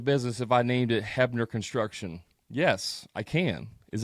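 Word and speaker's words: Huebner: ever seen my name it's h-u-e-b-n-e-r looks like hubner it's pronounced hebner no one can ever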